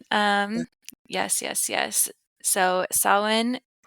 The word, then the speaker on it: Samhain: yes yes so sa which I did not know how to say this for a long time because it's s a m h a i n yeah you thought Sam Hayne you're like what is this very very American of me right yes